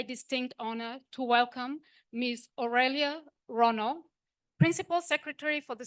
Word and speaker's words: Aurelia: say my name my name is Aurelia or they say aelia aelia Rono uh principal